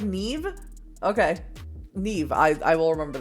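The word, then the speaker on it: Niamh: Niam is pronounced like Neve?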